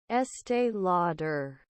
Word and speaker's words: Estee Lauder: estay Luder estay Luder Estee Lauder Estee Lauder Estee Lauder yeah it sounds stupid whoever named this company